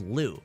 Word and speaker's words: Liu: People used to call me, cause my last name's Liu, right? It's written L-I-U, but it's pronounced L-O-U, right?